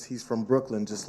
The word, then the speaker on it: Brooklyn: But when people say Brooklyn, like it's spelled L-A-N-D, and you're from Brooklyn, it's specifically something.